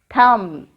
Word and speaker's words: thumb: T-H-U-M-B. How can we read this word? Thumb. T-H-U-M-B. Thumb. Here, letter B is silent.